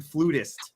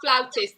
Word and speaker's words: flautist: whew, man, as a fellow pan flutist, you're kind of like, oh man. Yeah. I'm also it's pronounced flautist.